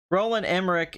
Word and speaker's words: Roland Emmerich: __ ] extract exposition roland emmerich is pronounced with the chat the end and nada que roland emmerich I'm